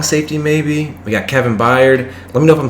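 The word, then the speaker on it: Byard: maybe we got kevin baird let me know if i'm saying that wrong i'm pretty sure that's how you say it buyer is how you pretty sure love to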